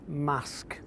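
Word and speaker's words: Marske: the sea tourists from outside the region often pronounce it as mask by the sea but to the locals it's mask it's widely thought that prehistoric settlements were present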